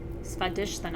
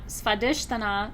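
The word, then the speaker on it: Svadhisthana: things right okay these sacral chakra in Sanskrit is pronounced spud dish and a spa dish Thun not spy dish than up and the root chakra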